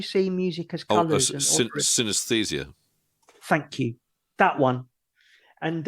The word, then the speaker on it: synesthesia: but it was all about, I can't even pronounce it properly. Syntheses. Yeah, it's where you see music as colours and synesthesia.